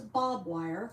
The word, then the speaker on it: barbed wire: I thought it was bob wire because that's how it's pronounced.